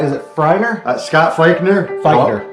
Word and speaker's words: Feighner: Feighner.